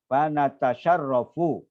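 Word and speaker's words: فنتشرف: Bacanya banyak yang salah. Semua salah. Fanatasharrafu. Itu artinya ada fa sendiri. Terus tadi tasyarrafa ya tasyarrafu nahnu natasyarraf. Maka bacanya fanatasharrafu.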